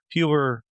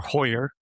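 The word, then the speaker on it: Heuer: the skipper an original huber or hoyer that depends how you want to pronounce it skipper is a premium vintage watch.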